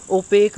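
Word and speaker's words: opaque: ओपेक आपको याद रखना, स्पेलिंग कन्फ्यूजिंग हो सकता है कई बार क्योंकि प्रोनाउंस कुछ और करते हैं, लिखते कुछ और हैं, तो ऐसे वर्ड्स को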